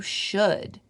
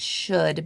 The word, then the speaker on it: should: eating more than you should I would highlight should because it has that silent l in it oh I'm still